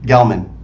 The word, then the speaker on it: Gelman: after oh uh brett uh gentlemen brad brett gilman gelman yes pronunciations are not my strong suit yeah yeah